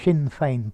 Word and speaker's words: Sinn Féin: During his incarceration, de Valera's Sinn Féin, notice the pronunciation, Sinn Féin party, had brushed, scrubbed, dusted, swept the boards